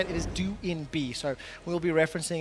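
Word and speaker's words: Doinb: have received uh updated information how to correctly pronounce d b his nickname is how we used to say it it is do INB so we will be referencing it that way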